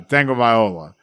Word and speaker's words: Tagovailoa: It's all the talking heads at ESPN said it right. It's Tagovailoa.